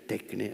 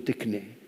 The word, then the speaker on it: techne: dobbiamo intenderci quindi sulla parola Tecne eh Tecne Accento sulla prima e vi prego non si sa perché alcuni dicono Tecne allora raccontiamoci questa storia